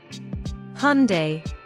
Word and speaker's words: Hyundai: on Nike products in New Year sale Hyundai Hyundai Libby loves Hyundai Motors Adobe Adobe